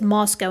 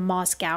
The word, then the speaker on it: Moscow: I think it's Moscow instead of Moscow. I've been saying it wrong this whole time, but I'll be right moving forward.